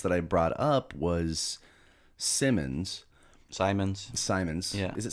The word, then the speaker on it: Simons: said simon yeah if it's spelled like science yeah it's simon's dumb anyway um i